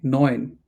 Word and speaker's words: neun: So whenever you have Neun und. it is oi, oi, euro, neun, Yeah. neun Neun und Music. again neun, not noon, neun.